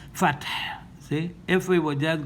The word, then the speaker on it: الفتح: We have to drop the dhamma because of pausing here and assimilate this ha that has a letter a together with this syllable fat, so it becomes fath.